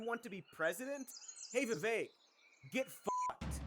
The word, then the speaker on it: Vivek: Hey Vivek, get fucked. It rhymes with K.